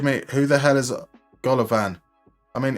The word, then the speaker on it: Golovin: But generally, instead of just going, who the hell is Golovin? It's Golovin. Just say, it's Golovin. There we go.